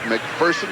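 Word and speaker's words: MacPherson: Dick McPherson, the New England Patriot head coach, he prefers it to be pronounced McPherson. He says there's no fear in person.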